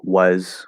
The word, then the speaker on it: was: right um so i it's a diphthong was we have w sound schwa sound it's not was right or was the s is a z so you have to